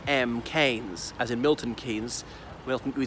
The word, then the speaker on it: Keynes: by his nephew and he said it is canes and they've been disturbing